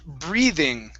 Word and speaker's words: breathing: of breathe breathing okay it's gonna be a voiced th breathing breathing okay uh make sure that your tongue is between your teeth and it's a voiced sound breathe breathing breathing okay